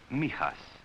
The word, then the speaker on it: Mijas: It is pronounced Mijas. For most of my boys, Mijas, outside the window there, is almost the only part of Spain they will ever get to know.